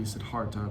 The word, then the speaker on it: Siddhartha: it as good and i'm probably mispronouncing siddhartha as la as well it should probably be sidharta but what kenya do